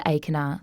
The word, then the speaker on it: Achernar: For example, the luminosity of the star Achernar (pronounced ay-ker-naar) is about 3,150 solar luminosities.